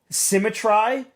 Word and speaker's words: symmetry: I pronounced that word, symmetry, wrong for years. Years. Because I thought it rhymed. Because it looks like it should rhyme. But it doesn't.